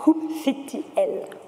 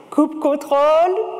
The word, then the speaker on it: kubectl: beginning we'll talk about coup c l oh a little disclaimer every person in in the world have their own way to pronounce it cou control cou C cop CLE don't worry about that the most important things